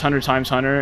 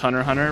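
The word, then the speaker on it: Hunter × Hunter: So, it's really crucial to understand why it's Hunter X Hunter, uh why it's Hunter Times Hunter, and why it's how how it's pronounced Hunter Hunter, right?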